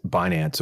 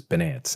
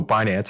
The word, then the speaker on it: Binance: that pronounce Finance Finance I've heard them refer to binance as bance and I'm like that's just so wrong okay don't do that